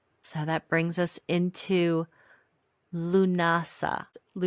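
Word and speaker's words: Lughnasadh: So that brings us into Lunasa. Lunasa, which looks spelled nothing like how it's pronounced.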